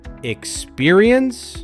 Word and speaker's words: experience: This word is often rushed, but the correct way is experience. Start with a quick ick, then spear, add e, and finish smoothly with uns. Together, it flows as exper e uns.